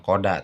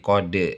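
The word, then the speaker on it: قد: ausat di bawah patah bukan Qada tapi qod De ya Ka Al setelah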